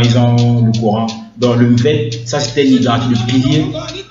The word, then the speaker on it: Mvett: Donc, l'instrument là, ça s'appelle le Mvet. Ça s'écrit M-V-E-T-T.